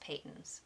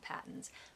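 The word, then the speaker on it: Patons: of I think two episodes ago said it's pronounced Peyton's non patents which makes sense with one t-mike Hatter or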